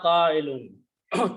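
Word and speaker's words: قائل: If you put an alif here, and this is pronounced after that with a hamza, so qa'ilun, fa'ilun, qa'ilun.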